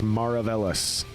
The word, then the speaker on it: Maravelas: I believe it's Maravelas.